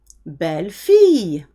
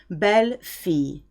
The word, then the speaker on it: belle-fille: Belle-fille. Again, this is often mispronounced. I-double-L is usually an E sound. Belle-fille.